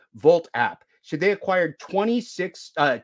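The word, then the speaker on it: Wolt: vault wt except it it's pronounced with a v in German. Volt app.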